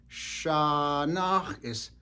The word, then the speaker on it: shanáx̱: things like this that sometimes you may have this spelled with uh s h a just with one a a short a s h a n High tone a underline X so instead of Shana so just a shorter a and sometimes you may